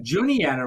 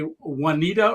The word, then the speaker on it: Juniata: let you know you're gonna cross the it's pronounced Juniata River and then also Susquehanna River so when you get to those uh a lot of people will say Juanita yeah we think this is how it's pronounced